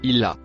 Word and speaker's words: illa: Le mot en bleu clair se prononce illa.